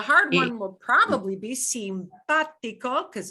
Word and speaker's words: simpático: mark, by the way, an accent mark never changes the sound that a vowel makes. It just tells you which syllable to give more stress. That's all that's the only, well, that's the main job of an accent mark. That's all it is. So it doesn't change the way the ah sounds in simpático. It just tells you punch that syllable in the middle harder than the other two.